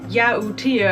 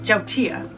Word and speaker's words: yautía: By the way, I'm using yautía, I've been calling it, but the right way to pronounce it is jautía.